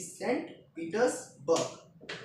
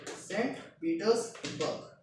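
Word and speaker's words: Saint Petersburg: सेंट पीटर्सबर्ग ये अच्छा नाम है। अच्छा नाम क्या होता है? ये करेक्ट प्रोनाउंसिएशन है कि सेंट पीटर्सबर्ग। सेंट पीटर्सबर्ग।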